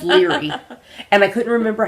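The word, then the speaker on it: Laoghaire: I'm assuming you pronounced it phonetically, Laocair. Uh-huh. And it's Leary.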